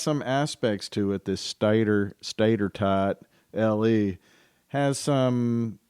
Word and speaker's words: stator: scuda podcast the statorle is the next generation of micro mobility solutions that's right you heard her correctly scooter head she said stator as in rhymes with tater s-t-a-t-o-r stator l-e capable